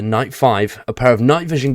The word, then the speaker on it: Night V: new rideable EUC night V pronounced the Knight five a pair of night